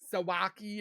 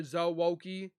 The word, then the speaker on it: Zoki: my name right because everybody goes Zaki or Z zi and it's like zoo or zoki zoki it doesn't have two o's so zoki he's got some goodies